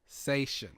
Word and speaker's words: Sachon: So today I'm joined by, and I'm going to pronounce his surname correctly Go on, give it a go. Sachon.